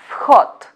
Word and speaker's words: вход: So, this here in the end you see letter D, but we should pronounce it as T. That's why entrance in Russian language we pronounce as vkhod.